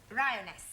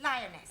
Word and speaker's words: lioness: the following lion roness lioness roness no l l r r you're not saying it right very sorry I know try saying roness lioness good well in future every time you see an AR pretend it's an AR right Anna yeah